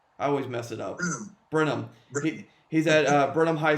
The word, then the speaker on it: Brenham: always mess it up brenham he's at uh burnham high school in texas i always mispronounce it i always go on call like brent hamm or something it's like whatever um